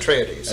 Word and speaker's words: Atreides: You have the forces of the House of Atreides, do you pronounce it? Atreides.